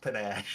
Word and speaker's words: panache: It's pronounced panache. I think panache sounds more You're not wrong. like French. I feel like it's French, right? It's definitely a French accent word.